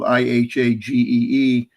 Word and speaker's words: Ihagee: that that's the word is spelled, the company is spelled IHAGEE, but it's pronounced Ihage.